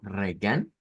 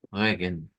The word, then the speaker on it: Regen: ng aquí tendríamos eh lo podemos decir como regan como que fuera español Esa no esa quizás pronunciación no nos gustaría mucho porque es una r fuerte y esa otra que sería la la pronunciación digamos en ese caso con la Ire cultural pues sonaría como regenen Y esa nos indica